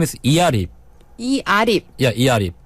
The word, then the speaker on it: Earip: And it's spelled E-A-R-I-P. Because E is like in a Korean name E. Right. Arip is like A-R-I-P. But if you just pronounce it, it's like Earip. Ear-rip, like ripping your ears.